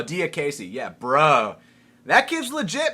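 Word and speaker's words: Diakiese: So, Mark, how do you how do you pronounce this guy's last name? Uh, Dis or what? Mark Diaz. Oh, Diace.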